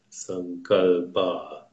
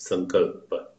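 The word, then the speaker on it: Sankalpa: is called some God or if you want some color bar but come culpa is the correct pronunciation it means subtle intention these are most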